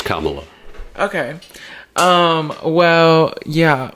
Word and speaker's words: Kamala: were saying that oh it has to be Kamala and that gave me a littlea or is it Kamala how do you pronounce it what's the proper way to pronounce